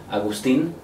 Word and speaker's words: Agustin: In Spanish, it should be Agustin.